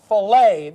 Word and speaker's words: filet: say the word f l e t it's filet notet fillet fillet I go with our English